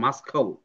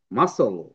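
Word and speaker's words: muscle: sound হবে না যদি হয় তাহলে এখানে হইতো মাসখাল কিন্তু এটা কিন্তু মাসখাল না এটা হচ্ছে মাসল মাসল আমার সাথে একটু পড়তে হবে সবাইকে ঠিক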